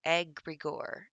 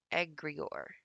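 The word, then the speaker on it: egregore: it's an occult concept it's pronounced agrigore agrior agrigor it's a term used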